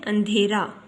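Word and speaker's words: اندھیرا: नून की आवाज़ को ज़्यादा खींचकर या दबाव से नहीं पढ़ना बल्कि पढ़ते हैं अंधेरा।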